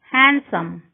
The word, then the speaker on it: handsome: D is not pronounced in the following common words: handkerchiefs, Wednesday, sandwich, handsome. D is not pronounced in the combination D, G.